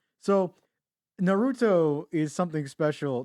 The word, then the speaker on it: Naruto: Naruto. That's an emphasis on the na, right?